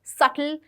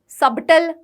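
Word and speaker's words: subtle: P silent होता है सटल में बी साइलेंट होता है ये होनेस्ट रिसीप्ट सबटल नहीं होता है ये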